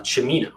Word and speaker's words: Cimino: should note though that my last name is pronounced uh chamino like al pacino got it shimino thank